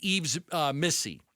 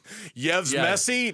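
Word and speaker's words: Yves Missi: Yves Messi? No, Yves No, Missy. not Messi, Okay, not good. the soccer player. It's Missy.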